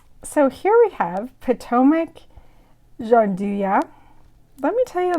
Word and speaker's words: gianduja: the dean gianduya or jean du ya there's um i'm probably pronouncing it wrong i think it's jean duya that's the proper way to pronounce it so i'm gonna open